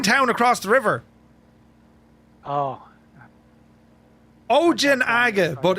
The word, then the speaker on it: Ojinaga: And across the road from it is a Mexican town called Oinaga.